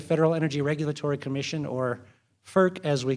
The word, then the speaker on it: FERC: up after the federal energy regulatory commission or FERC as we call it because we have to pronounce every acronym we have to create turn